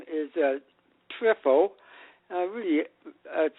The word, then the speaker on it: Triffo: My last name is TRIFFO. Really, that's how it's spelled.